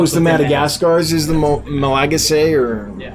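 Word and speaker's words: Malagasy: madagascar rainbows oh is the madagascars is the malaga say or yeah how do you say that okay my legacy thank you thank you thank you it's good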